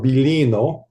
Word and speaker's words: Biglino: Because Elohim is translated as God, but Masoretic Hebrew scholar Moro Biglino, or Bilino, is the way they pronounce it.